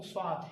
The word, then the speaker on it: صاد: فارسی میں بھی، جبکہ صاد کا تلفظ عربی میں کچھ اور طریقے سے کیا جاتا ہے، یعنی سین ہی ہے، سین کو تھوڑا موٹا تلفظ کرو تو وہ صاد بن جاتا ہے، لیکن صلی علی صراط